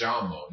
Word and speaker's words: llamo: phrase may down MO ok the Double L is making the Y sound or you could say Ms llamo doesn't matter whenever you